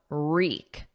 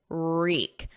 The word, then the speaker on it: wreak: Now notice the pronunciation of wreak. Reek. There's no W, it's silent. So it starts on a R, and then the vowel is E, reek.